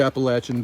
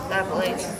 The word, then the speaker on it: Appalachian: So I'll be a good soldier, because that's what the Appalachian does.